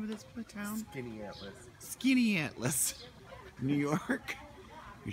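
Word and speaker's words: Skaneateles: Skinny Atlas.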